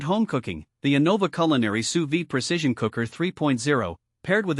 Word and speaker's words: sous vide: Pronounced sous vide, this technique involves cooking food in a water